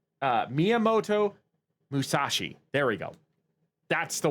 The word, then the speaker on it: Miyamoto Musashi: Miyamoto Musashi. Excuse me. I know I butchered that name. Miyamoto Musashi.